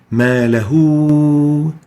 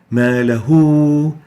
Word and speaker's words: مَا لَهُ: by a small waw, giving us a hint that this ha with dhamma should be pronounced as if there is a waw after it. We say مَا لَهُ, مَا لَهُ. There is a waw pronounced after the ha.